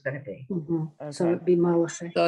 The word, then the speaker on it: Malachi: So it'd be Malachi. So it's Malachi. It really is Malachi or Malachi. It's Malachi.